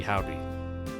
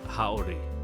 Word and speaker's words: haori: It's probably howdy. Or does... No, the O doesn't make a long A, so yeah, it's haori. You do pronounce the O. It's the E that makes the A long.